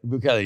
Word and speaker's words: Bukele: Nayib Bukele? Bukele, yeah.